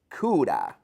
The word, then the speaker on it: could have: The pronunciation is coulda.